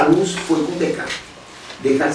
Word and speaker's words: Descartes: luz foi com decar decar se escreve descarte mas para falar tem que se descartar os ves Então fala dkt lá Tira os dois